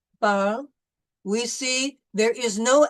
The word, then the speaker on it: parle: So the E is generally silent unless it has an accent. So in these words, pomme, table, parle, we see there is